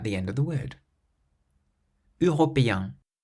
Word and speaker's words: européen: Européen, européen, means European.